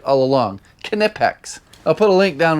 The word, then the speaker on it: Knipex: debatable I've been saying it right all along knipex I'll put a link down in the description